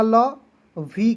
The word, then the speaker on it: love: उसके बाद LOVE, एल का ल, वी का व, लव, ओ और ई को दोस्तों आपको नहीं पढ़ना है, उच्चारण नहीं करना है, ठीक है।